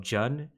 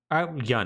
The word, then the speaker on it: Jun: However, perhaps the most consequential fighter to enter this is a woman by the name of Jun Kazama. So, Yun, I believe is actually how it's pronounced.